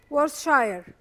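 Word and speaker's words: Worcestershire: هو في كام حرف في النص بيبقوا سايلنت فبتقلب وورث شاير تقريبا.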